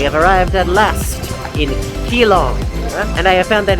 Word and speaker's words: Keelung: arrived at last in kilong and I have found that it is indeed pronounced G long even though it's spelled with a K oh romanization what do